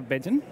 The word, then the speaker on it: Bejan: Changer my name is she's Beijing did I say it right yeah okay so